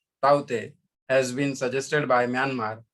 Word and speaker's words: Tauktae: The word Taute, pronounced as Taute, has been suggested by Myanmar, which means gecko, a distinctively vocal lizard in the Burmese language.